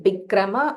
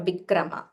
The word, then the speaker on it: विक्रम: Bikrama. Again, Bikrama or Vikrama.